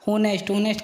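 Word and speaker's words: honest: एच के बाद ओ आने पर, जहाँ भी एच के बाद में ओ आए वहाँ एच साइलेंट होता है। ऑनर का मतलब होता है सम्मान, ऑवर का मतलब होता है घंटा, होनेस्ट का ईमानदार, और अम्बन का विनम्र।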